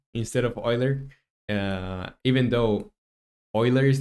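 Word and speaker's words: Euler: say does anyone remember how Roman pronounced uh Yer as uh Oiler well uh yeah like it's Oiler angles you corrected that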